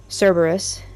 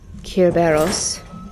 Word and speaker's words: Cerberus: Um, Cerberus as we know it pronounced or Kerberos or Carberos.